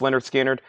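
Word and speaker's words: Lynyrd Skynyrd: that's $24.99 for the king also we have Leonard skinnard pronounced Leonard skinnard that is $24.99 and we have Iron Maiden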